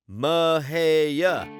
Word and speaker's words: Mexia: Say it with me now, Mexia, because nothing outs you faster as an out-of-towner than that other shameful pronunciation.